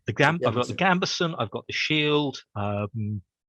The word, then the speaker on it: gambeson: garb which is the gabber how do you pronounce it uh the gambeson the gram i've got the gambeson i've got the shield um i i may